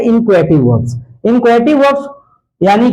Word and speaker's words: inchoative: इसको बोला जाता है इनक्वेटिव वर्ब्स। इनको हेटिव वर्ब्स नहीं पढ़े, इनको क्या पढ़ेंगे? इनक्वेटिव वर्ब, या इन्हें हम पढ़ेंगे इंसेप्टिव वर्ब, ठीक ना।